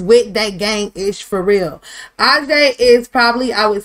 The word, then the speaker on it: A'Jae: So, this is Ajay, all right? And it's spelled A'JAE, Ajay.